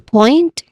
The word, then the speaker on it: point: So we focus on point, which is a 1 syllable. We still stress the whole word in itself. So it rhymes with joint. It has a clear oi diphthong sound here. So the diphthong sound is oi.